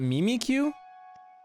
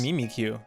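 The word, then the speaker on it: Mimikyu: - you call it Mimi Q what are you thinkin Pikachu yes I think it's pronounced me meet you not me me Q the corporate is a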